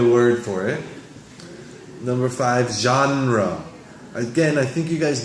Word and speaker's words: genre: not so service genre genre is the pronunciation it might be a little bit difficult it's not John like the name j EI n 7